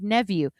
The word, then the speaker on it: Nevue: Say, Alexa, play David Nevue. Remember that it rhymes with nephew.